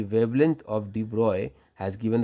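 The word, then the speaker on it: de Broglie: एंड द ब्रोगली pronunciation करते हैं कोई-कोई से और इसको मेनली डी ब्रॉय बनाता है। डी ब्रॉय ने क्या कहा?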